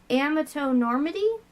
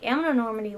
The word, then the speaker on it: amatonormity: how I fucking hate, I don't know how exactly you pronounce it, amatonormity, I think is how you're supposed to pronounce it.